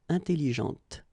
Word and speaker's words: intelligente: When you put this well, actually you will pronounce the final T, okay, but you don't pronounce this here. Intelligente.